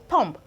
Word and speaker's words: thumb: We still have thumb, thumb, thumb and not thumb.